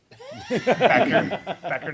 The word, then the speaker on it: Becker: Becker, not Beecher, Becker? It is correct. It's actually pronounced wrong the way we say it. It's actually Becker.